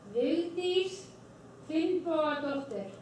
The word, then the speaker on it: Vigdís Finnbogadóttir: Anna, can you pronounce her name? Vigdís Finnbogadóttir.